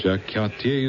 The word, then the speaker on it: Jacques Cartier: Jacques Cartier is the way it's pronounced. But Jack Carter is pronounced differently.